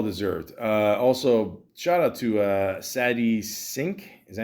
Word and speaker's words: Sadie Sink: Also, shout out to Sadie Sink.